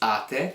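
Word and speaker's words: -ate: When we're talking about voi, it'll end in ate, it's not eight, it's ate.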